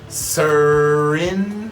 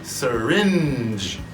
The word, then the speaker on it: syringe: The pronunciation. Scrapes. Rash. It. Stitches. And a shot. A needle. Just like yes sir, syringe, Syrin, and that little D, syringe.